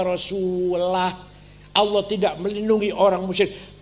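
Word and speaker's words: وَرَسُولُهُ: Ada orang baca Quran salah. Wa annallaha bari'um minal musyrikin wa rasulih. Allah tidak melindungi orang musyrik dan tidak melindungi Rasulullah. Salah. Bacanya harus wa annallaha bari'um minal musyrikin wa rasulah.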